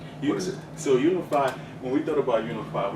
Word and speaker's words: Uneefi: So that's how you pronounce it, Uneefi? Uneefi, yes. Okay.